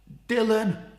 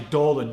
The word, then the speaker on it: Dolan: "Dylan, I don't know what the fuck's going on." His name's actually Dolan, but he's very gracious about me getting his name wrong.